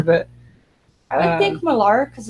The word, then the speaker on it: Millar: I've heard him himself say Miller, but it's spelled like Millar. But I would think Millar because it's an A, but I guess he's been corrected to it's Miller.